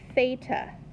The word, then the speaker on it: theta: is the Greek letter theta it's their equivalent of the letter T okay beta it is not pronounced with an F some people mispronounce it